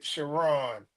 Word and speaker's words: Chron: the way it's spelled it's looks like it looks like K but it's it's pronounced shiron shiron okay wow so all